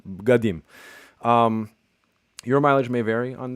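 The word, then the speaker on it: בגדים: And so you can say it begadim with the e being partially pronounced. I know, but I like begadim.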